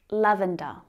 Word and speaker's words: lavender: But it's not quite as light as lavender. Lavender. Can you say it? It's got three syllables. Our stress is on the first syllable.